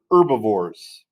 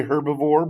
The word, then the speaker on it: herbivore: Um, the first type consumers we're going to talk about here are your herbivores. When you say this word, the H is typically silent. You can say herbivore.